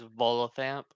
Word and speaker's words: Volothamp: Okay, so the way to say is Volothamp. That is Yeah, how you say it? Volothamp, Volothamp.